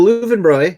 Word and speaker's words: Löwenbräu: Roy or you know Leuven Leuven double used to pronounce like these in german after all all right so Leuven bro or Lowenbrau is alleged to have